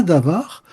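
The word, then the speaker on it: דבר: Il y a un mot en hébreu qui se prononce davar.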